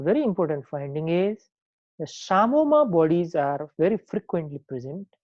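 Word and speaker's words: psammoma: And one very important finding is the Samoma bodies are very frequently present there. This is called Samoma body. P is silent here.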